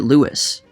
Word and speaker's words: Louis: up many authorities on lewis armstrong and all of the ones i looked at pronounced it lewis terry teachout wrote a